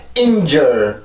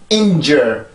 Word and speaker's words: injure: 어떤 식으로 발음하냐면 injure 이렇게 뚝 떨어뜨리게 되는데, 소리가 듣기에는 뭐 많이 다르지 않다라고 들을 수도 있겠지만 사실 영어의 리듬으로 보면 틀리게 돼요. 이 발음은 injure 이렇게 뚝 떨어지는 게 아니라 injure 한번 소리가 올라와야 돼요.